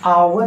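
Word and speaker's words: hour: से शुरू हुआ है इंग्लिश में लेकिन इसका उच्चारण देखिए तो यह जो है वह साइलेंट हो जाता है है और इसका उच्चारण आवर है है जो यह हिंदी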